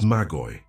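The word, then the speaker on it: μάγοι: The word is Magoy. Two syllables. Magoy.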